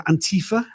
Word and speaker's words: Antifa: Donald Trump this this misprononunciation of Antifa as in anti-fascist. It's pretty obvious why the the name is pronounced the way it is given what it actually refers to.